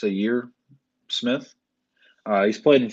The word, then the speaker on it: Zhaire: the santa's room so years how do you pronounce it it's a year it's a year smith uh he's played in philly for the